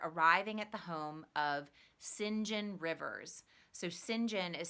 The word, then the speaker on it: St. John: at the home of Sinjin rivers so Sinjin is spelled st. John but that name in England is pronounced Sinjin and she's a beggar